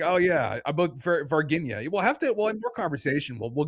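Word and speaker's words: Varginha: But I always purposely mispronounce it as Vargina, but it is pronounced Varginia in Brazil.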